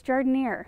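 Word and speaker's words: jardinière: bow is it jardineer i looked up on youtube how to pronounce that word and it was jordanier is that right sounds like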